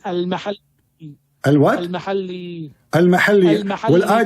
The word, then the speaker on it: al-Mahalli: It is not al-Muhalla. What it is? You don't understand. What it is? It is al-Mahalli.